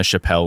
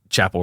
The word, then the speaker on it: Chappell: I was just calling her Chappelle Roan for like 3 years, and then she blew up, and I found out I've been saying it wrong for 3 years.